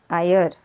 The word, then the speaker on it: higher: Eighth number आयर. तो यहाँ पे एच इज साइलेंट. उसका आवाज़ नहीं आता है. सो नाउ it has become E sound, higher.